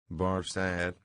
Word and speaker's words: Barsad: "Barsad," said Defarge, making it French by pronunciation.